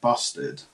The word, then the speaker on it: bustard: a turkey, but it's actually called a great bustard. A great what? Bustard. You have to be careful how you pronounce that one.